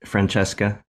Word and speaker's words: Francesca: yeah very cool very cool uh we are pronouncing your name right Franchesca yes okay great yeah I'm GNA guess that